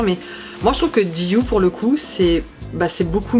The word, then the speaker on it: GU: GU, donc G-U, qui se prononce GU à l'anglaise.